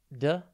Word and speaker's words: deterrent: Today's word is deterrent. It's pronounced de-te-runt, and it is spelt D-E-T-E-R-R-E-N-T. Think deter and rent.